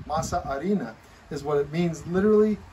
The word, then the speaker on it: masa harina: flour but it's called masa harina that's not how they say in spanish because the h is silent masa arena is what it means